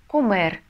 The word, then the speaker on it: comer: Так как все глаголы в испанском заканчиваются на букву «эре», то инфинитив мы всегда будем читать с ударением на последний слог. Ну, например, «трабахар» – «работать». Comer – есть, бибир – жить.